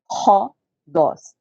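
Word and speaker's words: ῥόδος: Ha, é um som mais forte, é um R, vamos dizer assim, meio gutural, né? É um Ra, Ro, Dós. Ro, Dós. Rodós, gente, é rodós, que vem de rodovia.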